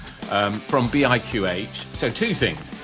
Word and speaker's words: BIQH: So it's not BIQH, but it's BIQH actually. Right. So it's spelled BIQH, but you say it as BIQH.